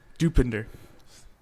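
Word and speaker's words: Dopinder: you say iter dender yeah there you go dupinder thought was do Mountain Dew um he says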